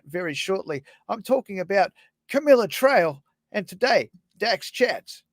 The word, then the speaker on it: Camille: G'day, Camilla. Hi. Camille. Oh my goodness, Camille. How dare That's I all make right. that mistake? Lots of people make that mistake. I think someone has even pronounced it camel before.